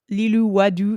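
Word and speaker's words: Lilou Wadoux: Give me your French. Is it French? Lilou Wadou. Yeah, that sounds pretty French. Gorgeous. It's spelled very French.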